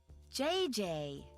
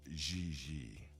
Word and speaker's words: Gigi: JJ. En français, you pronounce G like J and J like G. She may very well be JJ in America, but in France, she is Gigi.